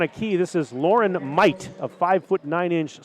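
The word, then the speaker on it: Meudt: key this is lauren might a five foot nine inch sophomore spells her last name m-e-u-d-t but it's pronounced might as i was told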